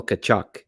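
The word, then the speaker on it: Tkaczuk: Daniel Tkachuk, spelled a little differently than Brady Tkachuk, but yeah, that's how you pronounced it too.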